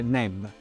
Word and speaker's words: Neb: Il canestro si legge Neb e vuol dire signore, padrone.